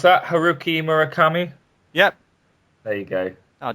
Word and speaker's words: Haruki Murakami: Can I pronounce that? Haruki Murakami?